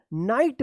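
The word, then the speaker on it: knight: तो यहां पे क्या रूल्स था कि एन से पहले अगर के आता है तो के क्या रहेगा? यह साइलेंट रहेगा। तो इसको क्या पढ़ेंगे हम लोग? नाइट पढ़ेंगे।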